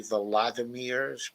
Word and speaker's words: Volodymyr: So Ghost Art says Volodymyr Zelensky, he pronounces it actually Volodymyr because he's Ukraine, urged people to invest in Ukraine and address before the opening of the New York Stock Exchange.